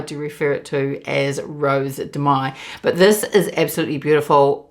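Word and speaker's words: Rose de Mai: Now, I know this is pronounced Rose Demay, but my grandmother's on my mother's side.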